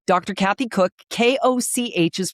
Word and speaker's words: Koch: Kathy Koch, k o c h is pronounced Koch.